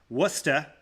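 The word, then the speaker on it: Worcester: He has a 3.09 09 RA in two starts and one relief appearance for Triple A Worusta which is spelled Warchester for those of you wondering and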